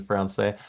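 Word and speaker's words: Français: Ahmed said, "Don't pronounce the S in Francais."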